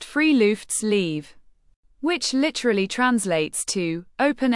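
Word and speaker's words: friluftsliv: A truly unique and central concept in Norwegian life is the word froftlive, pronounced freelfts leave, which literally translates to open air life.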